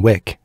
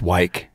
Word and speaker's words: Wick: His name was John Wick. Except when he got to work, he's like, it's pronounced Wyke.